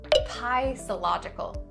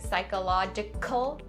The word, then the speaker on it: psychological: a P sound, you don't say psychological. No. So skip the P and just say psy. And the next part is psychological. Psyche. And the last part of this word is pretty simple to pronounce. Logical. The only thing to take note is the k sound in the middle. Don't over enunciate it and say psychological. Make it a subtle k sound.